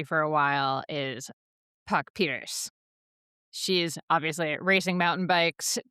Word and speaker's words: Pieterse: So, Rog, on that name, do we pronounce the E at the end of Pieterse? Cuz I've heard commentators say both Pieterse and Pieterse. It's Puck Pieterse. Puck Pieterse.